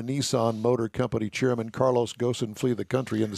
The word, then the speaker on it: Ghosn: Carlos Ghosn, or Gone, or whatever you, however you want to pronounce his last name. He's still in his hidey hole. He's in his hidey hole, and his last name is spelled G-H-O-S-N. I call it Ghosn. If I'm wrong, I don't care.